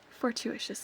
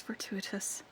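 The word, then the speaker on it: fortuitous: Fortitious isn't how it's pronounced. It's fertuitous, but that's how I always pronounced it in my head.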